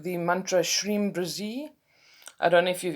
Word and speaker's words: Shreem Brzee: i also used other things like the mantra shreem brzee i don't know if you've ever heard of